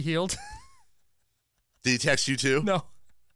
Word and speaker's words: Hield: I I said hey if I pronounced it wrong let me know you know he texted me it's pronounced buddy hield the text you to